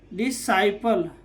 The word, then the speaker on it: disciple: सी का उच्चारण नहीं होगा तो क्या हो जाएगा? ए सेंट, ए सेंट। यहाँ पर DISCIPLE, डिसाइपल, क्या हो जाएगा?